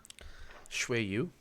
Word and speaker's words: Shui Yu: I think Shadow's the only one I that can guess- pronounce her name. Shui Yu. It's Shui Shui Yu.